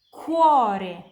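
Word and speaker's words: cuore: Kalau C diikuti dari A, O, U, dan H pronunciasinya kayak K di bahasa Indonesia, kayak kental dan kucing.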